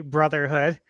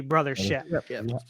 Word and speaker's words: Brothership: Because it does sound like it should be or could be Mario and Luigi Brotherhood, but it's the Mario and Luigi Brothership. And you guys all know why, right?